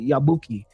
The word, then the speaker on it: Yabuki: Yabuki.